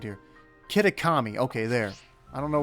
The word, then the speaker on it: Kitakami: you say this hold up I I can't mispronounce it again when it's right here kitakami okay there I don't know why I started